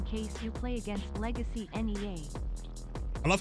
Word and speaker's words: Nea: Extra bit donations are left up in the ranks in case you play against legacy NEA. I love how it doesn't even pronounce the name Nia. It is Nea, the the unspoken one.